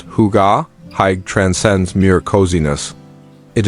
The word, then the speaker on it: hygge: Hygge as a foundational tenet of Scandinavian culture, pronounced Hygge.